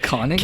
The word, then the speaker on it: Koenigsegg: Dude, Koenigsegg? Koenigsegg. You can't say it like it's spelled. It's like Koenigsegg.